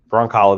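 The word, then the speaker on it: Brzonkala: In 1994, Christy Broncala, the Z is silent.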